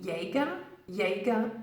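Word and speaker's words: Jägermeister: lot different to the Germans in English we pronounce it as Jenny gonna biased on Jagermeister you may even hear people using yaga yaga just for short because Jagermeister is just simply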